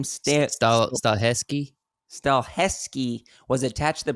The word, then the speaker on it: Stahelski: So the John Wick the director for John Wick, Chad, how do you pronounce that last name? Stahelski.